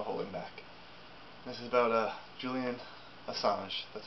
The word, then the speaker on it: Julian Assange: This is about Julian Assange.